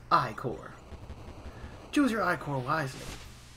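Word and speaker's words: ichor: can fill it with magical eye core that's pronounced i-core choose your eye core wisely so we have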